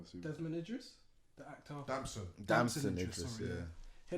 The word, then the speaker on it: Damson: attention of a clip or an interview of Desmond, how do you say his name? Desmond, I mean, assuming. Desmond Idris, the actor. Damson Idris, Idris, sorry, yeah.